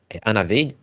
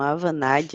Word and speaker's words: Avanade: E quando você fez faculdade, hoje você está trabalhando na Anaveide? É a Vanade. Avaneide, né? A Vanade. Avanade, tá?